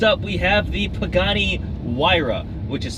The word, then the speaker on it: Huayra: Once you know, it's like Huayra.